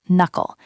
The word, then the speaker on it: knuckle: It's time to knuckle down. It is a phrase of discipline. Let's practice it. Notice the pronunciation. The K at the start of knuckle is silent. It is just knuckle.